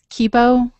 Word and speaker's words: Kibo: Yeah, Kibo. Module. It's really a workhorse for science, even if I can't remember how to pronounce it.